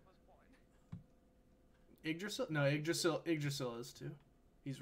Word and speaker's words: Yggdrasil: Yggdrasil is spelled with two Y's at the beginning to make the I sound.